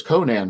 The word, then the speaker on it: Conan: got a letter and told him it was conan that's what he's pronounced and by letter he